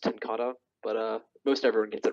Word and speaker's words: TenKate: it's Dutch if you're curious. It's pronounced tenkata, but most everyone gets it wrong.